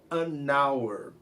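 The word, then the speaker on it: an hour: que começa com vogal ensinei para vocês que a n é usado antes de som de vogal quando h é mudo como no caso essa palavra e veja usar a apesar do hc uma consoante a gente usa é só para fazer a emenda do sol anauer ok a regra seria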